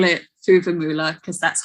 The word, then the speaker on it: Fuvahmulah: this island in southern maldives i call it fuvamoola because that's how it's spelt but the locals pronounce it formla um so yeah um and not that long